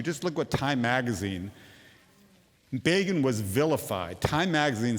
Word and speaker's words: Begin: Begin was vilified. Time magazine says, infamously quipped, that Begin rhymes with Fagin, the unsavory Jewish fence in Charles Dickens' Oliver Twist.